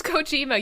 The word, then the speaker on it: Kojima: you didn't surprise me how is your name pronounced faster i don't know it's kojima you've said it wrong like seven times idiot